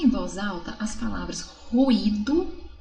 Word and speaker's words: ruído: Então, ruído, tanto que até se separa, é um hiato, ó, ruído.